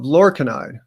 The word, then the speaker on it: lorcainide: And it's another historical study that I discovered, thanks to you, Lewis, for putting me onto this talk, of lorcainide, which rhymes with enconide.